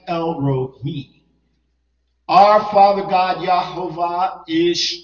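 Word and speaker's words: El Roi: Now, once again, R-O-I, people want to pronounce it Roi, but it's actually El Rohi.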